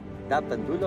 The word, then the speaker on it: Ndapandula: Yes, da pandula or la pandula? Da pandula. Yes.